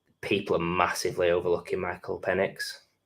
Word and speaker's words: Penix: show but it's uh Michael penis I mean Michael penck uh yeah the Falcons